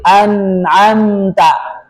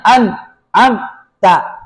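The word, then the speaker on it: أنعمت: Anamta anamta enggak boleh anamta enggak boleh dilepas enggak boleh memantul enggak boleh juga dihilangkan alirannya. An ab ta enggak boleh an ab ta.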